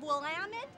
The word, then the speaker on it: Willamette: We are back at the Great Kern County Fair, and I am with Michael Compton of Willamette Valley Pie Company. Nicely done. You pronounced Thank it perfectly.